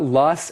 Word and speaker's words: L: I went to work by train，都可以。后面为什么称呼芝加哥的这个地铁叫做 the L 呢？字母的这个 L 呢，是从 elevated 这个字来的，E-L-E-V-A-T-E-D。Elevated 是高架的，Elevated